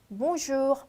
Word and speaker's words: bonjour: 아주 끝이 살짝 흐려지지만 발음이 있긴 있어요. 그래서 bonjour.